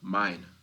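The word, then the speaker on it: Myne: It's a matter of this goal, mine, right? That's her name. Mine. Um it's spelled as main, but her name's actually mine.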